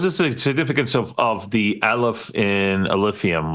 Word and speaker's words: Aleph: Yeah, I'm pretty sure I'm pronouncing it right. It's Aleph.